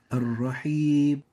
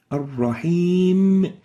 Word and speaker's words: الرحيم: An example of that is Ar-Rahib, Ar-Rahib, almost not pronouncing the meme here. And the right way of pronouncing it here is الرحيم Ar-Rahim. So even if we stop at the M of Ar-Rahim, the meme should be expressed, and the reason is that it's a bit loose.